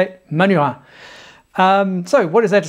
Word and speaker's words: Manurhin: Yep, that's how you say it, Manurhin.